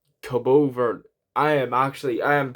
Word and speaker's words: Cabo Verde: Oh, is that Cape Verde? It's Cabo Verde.